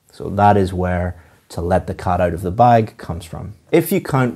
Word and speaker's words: let the cat out of the bag: The pronunciation of this is to stress or emphasize cat and bag. Let the cat out of the bag.